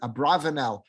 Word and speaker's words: Abarbanel: One of our classic commentators on the Torah is always referred to as Abarbanel. Some people will pronounce it Abravanel. however you pronounce it, it's the same person.